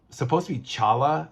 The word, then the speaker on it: T'Challa: And I'm really glad that he was able to resolve and finish Chala's, by the way, it's supposed to be Chala. The T is silent for those of you who don't know, not T'Challa, Chala.